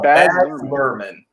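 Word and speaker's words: Baz Luhrmann: up a little bit when you're saying oh bad merman i'm screwing that right yeah you got it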